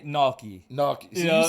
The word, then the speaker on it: gnocchi: I say gnocchi.